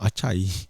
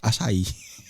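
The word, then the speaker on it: açaí: dia punya waitress dahlah mat salh kan asal why you love actually it's not acai it's asai asai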